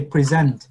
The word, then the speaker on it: presentation: The stress, like các mình nhấn chữ presentation, nó khác với present. Yeah. Presentation. Cái trọng âm nó nhấn chữ pre đó, mình thường hay go upward a little bit. Presentation. So presentation. So you put the emphasis on the first one.